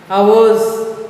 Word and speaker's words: hours: Hours, H is silent.